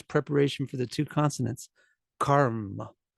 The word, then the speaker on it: karma: for the two consonants Karma it's just like yoga was yo Yoga Yoga karma is karma karma is karma karma the a stays the short sound but the consonants actually take up more space it's like there's some kind of hesitation karma karma karma